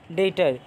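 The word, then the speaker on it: debtor: जाता है कि यह भी जो है वह साइलेंट होता है है तो देनदार डेटर यह क्या होता है तो व्यक्ति संस्था फॉर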